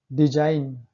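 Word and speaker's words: design: Rule number 6 है, यदि किसी शब्द में एन से पहले जी आए तो जी साइलेंट रहता है। देखिए एन से पहले जी आया है। साइन, सिग्न कहाँ पढ़े हैं? साइन। डिजाइन, देखिए एन से पहले जी आया है।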